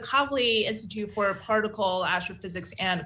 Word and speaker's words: Kavli: gonna print mispronounced that you want to help me cuff lobby institute that's i totally did that wrong you almost got it well it's actually the kavli institute for particle astrophysics